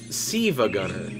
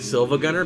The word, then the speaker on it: SiIvaGunner: But he stopped uploading videos, and then somebody went online with the name of Siva Gunner, And it's spelled the exact same way, and it looks like Silva Gunner because the second I is capitalized, so it looks like Silva Gunner.